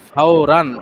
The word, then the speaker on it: ফাওরান: ও আচ্ছা, ফাওরান, র দুই জবর রান আছে না, এটাকেই ধরতে হবে ফাওরান। তার কি তানবিন নুন সাকিনের গিয়া দেয় না, জি, ফাওরান মানে ফাওরান মানে জলদি, তাড়াতাড়ি।